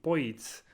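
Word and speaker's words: Boids: that like to flock it's rumored that the name Poes comes from how englishspeaking people pronounce Birds rs's paper that describes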